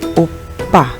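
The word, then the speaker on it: 오빠: Dibaca opa, opa. Sebenarnya ini double biep, tapi penekanannya biasa lebih ke p. Jadi opa.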